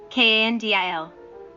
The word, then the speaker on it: Kandil: Kandil. Bandil. R. 59. Kan is pronounced aloud. Dil is pronounced with a low voice.